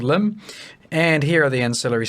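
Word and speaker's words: Lympne: which says loom and note the spelling is quite weird it is pronounced limb not limp knee or lime pee or any other concoction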